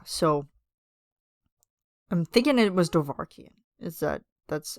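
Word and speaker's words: Dovahkiin: Yeah, so I'm thinking it was Dovahkian.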